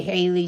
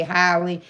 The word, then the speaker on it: Halle: So someone may say Haley, some say Halle.